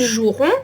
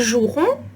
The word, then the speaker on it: joueront: En conséquence, or par conséquent, ils joueront en premier. Note that I'm not pronouncing ils joueront, but ils joueront, as if there was no E.